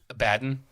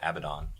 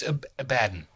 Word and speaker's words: Abaddon: they redid my boy Abaddon abadan no Abaddon if you pronounce it English it's a baton Abaddon sounds much more scary Oh check it out